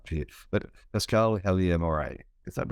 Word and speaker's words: Pascale Helyar Moray: So today I'm speaking to, I'm hoping I'll get the right pronunciation right here, but Pascale Helyar Moray.